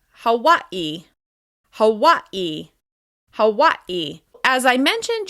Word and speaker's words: Hawaii: As you can hear, this is just 2 syllables, and it's stressed on the first syllable. Georgia, Georgia, Georgia. Let's move on to Hawaii.